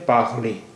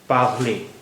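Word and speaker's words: parler: जबान का ये है पागले पी ए आर एल ई आर पागले यहां पर आर आर जो आखिर में है उसका तलफुज़ नहीं हो रहा है तो यहां पर ई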